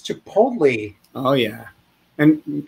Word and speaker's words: chipotle: hard to see it's chipotle oh yeah and good job on the pronunciation a lot of people mess up that l t combo yeah man chipotle like nick noley can't go wrong it's